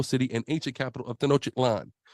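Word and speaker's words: Tenochtitlan: and ancient capital of Tenotic Lan. Right? That's how you say it, brother.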